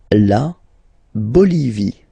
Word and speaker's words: La Bolivie: La Bolivie. Okay, final not pronounced.